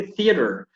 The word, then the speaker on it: theater: Because sometimes we say the theater or with the Z, but actually it's a TH. You have to put the tip of the tongue between your teeth, with the upper teeth and the lower teeth.